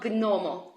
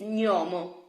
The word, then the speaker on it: gnomo: So just try to forget this English notion and please pronounce G plus N as ny, ny. Okay, it's not gnomo, it's gnomo.